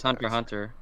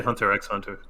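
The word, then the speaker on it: Hunter × Hunter: it I love you you don't say the X it's it's pronounced hunter hunter yeah I don't see that I say hunter x hunter yeah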